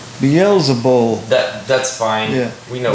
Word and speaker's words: Beelzebul: But when the Pharisees heard this, they said, "This man casts out demons only by Beelzebub, but the ruler of," I think I mispronounced that word, Beelzebul.